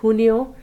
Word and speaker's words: Junio: You'll notice for both Julio as well as Junio, we pronounce the J sound as an H sound. So it's Junio and Julio.